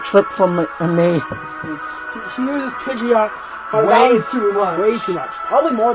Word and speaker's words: Pidgeot: Okay, and that's how Pidgeot's name's pronounced. It's supposed to be pronounced Pidgeot. Pidgeot.